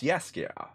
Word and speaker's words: Yasuke: Yo, it is Yasuke then. Now, how do you say her name? It is Yasuke, right? Or is it Yasuke? It's Yasuke. Yo, does that mean some gameplay?